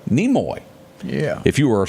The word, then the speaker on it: Nimoy: Also, we lost, and I didn't know this guy's name at all, Simon, how do you pronounce that last name? Nimoy.